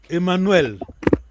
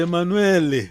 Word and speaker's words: Emanuel: A sílaba tem que ser full sílaba, quer dizer, sílaba não é, por exemplo, Emanuel. Emanuel. Lá no fim só tem L, não é? Mas o Mukongo vai dizer Emanuele.